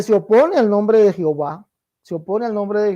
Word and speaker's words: Jehová: ha derivado en Jehová eliminando la H al final porque la H es muda no toma ningún partido ahí por eso fue eliminada